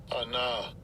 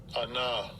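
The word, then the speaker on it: עָנָה: And this is how this term is pronounced. Strong's H6031. Anah. Anah.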